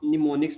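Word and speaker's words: mnemonics: निमोनिक्स भी कहते हैं एम एन ई एम ओ एन आई सी एस ओके स्टार्ट में इसका एम आता है लेकिन एम बेसिक क्या है साइलेंट होता है य तो निमोनिक्स इसको बोलते हैं तो ये वाली लैंग्वेज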